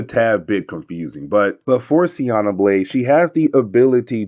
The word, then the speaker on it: Siena Blaze: new character known as Siena Blaze. I want to say it's Siena, but I also heard her be pronounced as Sienna, but I'm calling her Siena Blaze.